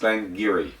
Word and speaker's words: Glen Garioch: Uh, this is a Doric tongue uh that was spoke for centuries in that area. So, Glenn Gerat is pronounced Glengeiri.